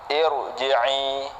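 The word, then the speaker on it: ارجعي: Irji'i, irji'i. Nah, dibaca tebal. Enggak boleh irji'i, irji'i, itu enggak boleh karena dia harus dibaca tebal.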